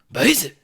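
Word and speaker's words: 白左: It's called baizu, or how they like to pronounce it, baizu.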